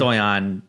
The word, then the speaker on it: Stojan: is Stoyan. J pronounced like a Y. Yavik. We'll give it to you. Oh, sir, Thank you. You're Untie the Stojan?